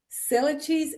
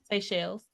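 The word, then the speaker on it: Seychelles: I put uh six and I'mma say it wrong so you're gonna have to correct me. Cell cheese. S E Y C H I. No. Say it again. say shells.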